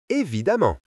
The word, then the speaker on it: évidemment: Quand la lettre E est suivie par 2 M, elle se prononce souvent A, comme dans les mots femmes et évidemment.